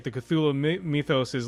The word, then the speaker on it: Cthulhu: of cthulhu is like even the name cthulhu that's just how you say it but it's actually a word that human beings aren't supposed to be able to say basically right uh so you can say tulu cthulhu right but then this guy